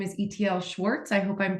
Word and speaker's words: Itiel Shwartz: His name is Itiel Shwartz. I hope I'm pronouncing that correctly.